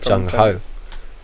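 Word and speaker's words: gung-ho: so but originated so it's like jungho that's how it's pronounced yeah but I bet it was originally chungo or gun gunko I don't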